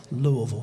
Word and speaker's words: Louisville: that I'm actually from Louisville if you say it that way you have to say it like you got a mouthful of marbles Louisville Kentucky and so Greg